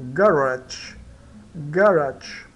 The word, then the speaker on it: garage: E esse, quando ele vem seguido do E, aí dá o som do DJ. Então, DJ, né? DJ, né? E o E, né? No caso, não é mudo. Ele fica como sendo, vamos considerar ele como mudo, tá? Mas esse aqui dá DJ, né? Então, garage.